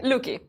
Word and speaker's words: Lucky: Spelled Lucky, but pronounced Luki. Luki.